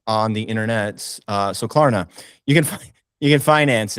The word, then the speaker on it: Klarna: Klarna. Klarna. Klarna. That's a That's a very small R.